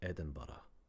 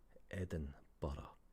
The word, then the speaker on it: Edinburgh: It is Edinburgh. Edinburgh. Edinburgh. Not borough or whatever.